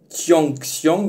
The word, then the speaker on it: Tianxiang: Alors, ça s'écrit Tianxiang, mais en chinois ça se prononce Tianxiang.